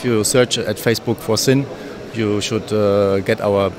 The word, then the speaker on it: Sinn: you properly pronounce sin it's just like sin like sense in Germany the same word for sense is also sin and we get a